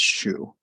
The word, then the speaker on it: Xu: The last name is uh, pronounced shoe.